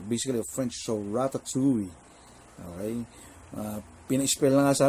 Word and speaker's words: ratatouille: Ni-research ko ang pronunciation, it's ratatouille.